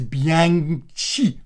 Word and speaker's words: Bianchi: So that B as in be aware, Anne as in Princess Anne, Anne of Cleves, other Annes are available, and then chi as in the first part of cheese, but leave off the E's bit.